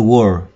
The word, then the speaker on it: world: Các bạn phải cong lưỡi lên phía sau. Word của, có cái âm cong lưỡi của chữ R. Và chúng ta đọc là heal the world, heal the world, heal the world.